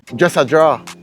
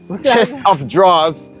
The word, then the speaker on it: chest of drawers: I never start understanding this until a te dress a draw chest of drawers turn into dress yeah dress a draw oh